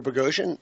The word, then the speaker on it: Boghossian: Yeah, it rhymes with explosion but with a B.